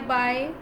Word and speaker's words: by: One is B-U-Y, buy, another is B-Y, buy, and then one is B-Y-E as in bye-bye.